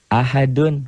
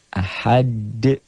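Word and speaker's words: أحد: Ahad. Ahad. Jadi ini tuh asalnya dhammah tain menjadi sukun bukan dalam tulisan tapi dalam bacaan. Ahad bacanya ada e-nya. Kayak bola yang mantul jatuh tidak langsung diam, mengeper, mengembal.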